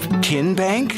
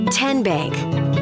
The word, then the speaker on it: TN Bank: How do you say the name TN Bank? Nope. Tin Bank. Uh-uh. So, what is it? Tenbank. 10 as in Tennessee.